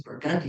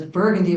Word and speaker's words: Burgundy: The only thing I had to intervene on was the peculiar New Orleans pronunciations of things like the street I live on, which is Burgundy Street, which was Burgundy when she said it first.